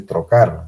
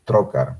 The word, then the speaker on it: trocar: los trócares a propósito no se dice trocar se dice trocar ya en la exposición varias veces se han dicho tocar no es tocar esto acá entonces a